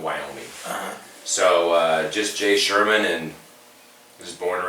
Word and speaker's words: Scheuerman: for having me yeah my name is josh sherman it's german and so no one knows how to spell it ever since i was a kid um